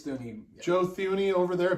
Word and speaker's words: Thuney: Is that how you say his name? I believe it's Thuney.